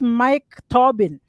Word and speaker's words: Mike Tobin: Let's talk about Mike Tobin. Am I pronouncing the name properly?